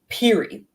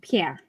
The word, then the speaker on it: Pierre: Okay, no, like, see this word on the screen. Piri. And that's not how you pronounce that. That's Pierre.